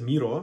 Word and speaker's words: Miro: In Miro, I typically pronounce it Miro because... when you say in Russian, на карте мира, which is nice phrase because it shows, it says that it map of the world, but then again,